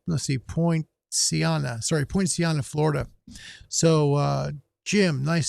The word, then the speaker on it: Poinciana: have three and i'm going to say his name wrong it's james sylvester with the name of the town he's in is in points akana let's see point siana sorry poinciana florida so uh jim nice signal nice station